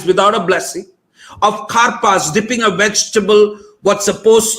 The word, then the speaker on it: karpas: Like when we were talking about karpas in our community, someone said, you know, it's like kar and pas. It's like karpas.